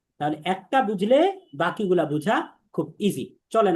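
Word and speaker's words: ب: তাহলে এই বা উচ্চারণ হবে দুই ঠোঁটের ভেজা অংশটাকে মিলাইতে হবে।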